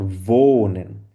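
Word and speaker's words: wohnen: আমরা বলে থাকি আর ভোনেন ভোনেন মানে কি ডব্লিউ কে আমরা কি উচ্চারণ করি ভ উচ্চারণ করি তার মানে ভোনেন মানে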